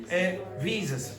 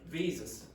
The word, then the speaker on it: visas: she heard Jesus now now just listen to the way I say it visas visas are often rejected visas are often rejected does it sound like Jesus no a little at the